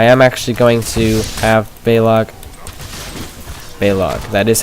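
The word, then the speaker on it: Baleog: being sarcastic I am actually going to have balog that is how you say it he's dead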